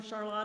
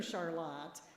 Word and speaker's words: Charlotte: I used to say Charlotte, and then I went on the bike ride through Charlotte, and I learned, oh, it's Charlotte.